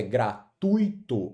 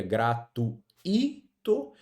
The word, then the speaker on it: gratuito: No caso da palavra gratuito, a pronúncia é gratuito, ou seja, a pronúncia, ó, é com de tongo e não com iato. Se fosse com iato, ficaria gratuito.